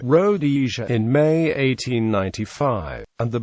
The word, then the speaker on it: Rhodesia: should have been pronounced with the emphasis on the second rather than the first syllable Robert Blake comments but